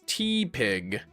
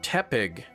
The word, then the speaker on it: Tepig: pronounce tepig as teig cuz it's shaped like a like a teapot. Yeah, I think it's called teepig because it's like tepid.